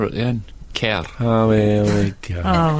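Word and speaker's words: Kerr: Deborah car oh okay I pronounce it car and I King yeah I thought it was you pronounced it car K or maybe not I don't know I think you do pronounce it car thank you I'm in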